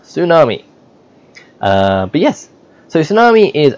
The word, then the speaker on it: tsunami: I know it's spelled with a T, but it's pronounced tsunami.